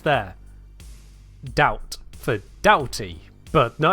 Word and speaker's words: Doughty: We don't need yet another way to pronounce O-U-G-H, and yet here it is. Ow. So yes, melee Doughty.